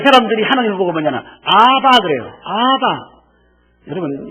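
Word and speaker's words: אבא: 그 사람들이 하나님을 보고 뭐냐면 아바 그래요. 아바. 여러분 이 아바라는 뜻이 뭐냐면 아버지 아빠라는 뜻이에요. 발음이 비슷하죠. 우리는 아빠, 그 사람들은 아바 이렇게 부르죠.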